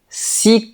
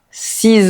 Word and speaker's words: six: Devant un nom qui commence par une consonne, on ne prononce pas la dernière lettre. Par exemple, j'ai apporté six couteaux, huit fourchettes et dix verres. Avec un nom qui commence par une voyelle ou un h muet, on fait la liaison. Il a six amis.